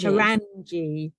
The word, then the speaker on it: Carangi: So this week we are featuring Gia Carangi, American supermodel. Is that how you say the surname? Carangi? Carangi.